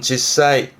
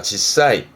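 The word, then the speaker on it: 実際: 앞에 게 실, 발음은 실제 뜻은, 발음은 지사이. 거짓이 아닌 현실적인 사실을 말하는 실제 제자기도 합니다. 지사이.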